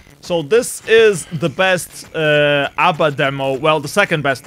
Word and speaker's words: ABBA: So this is the best ABBA demo.